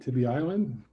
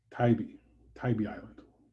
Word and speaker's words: Tybee Island: All right, Tibby Island. It's a beautiful part of the world. Probably, is it Tibby Island? Because I think it is. Tybee Island. I knew I felt like I said it wrong.